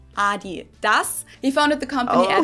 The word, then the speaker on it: adidas: pronounce it adidas and in germany we say adidas yes adidas yes that is the correct pronunciation we call it adidas united kingdom so